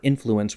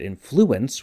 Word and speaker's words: influence: always pronounced the word influence with the accent on the first syllable so when I hear pink sing it sounds a little wrong to me but I have friends who pronounce it influence with the accent on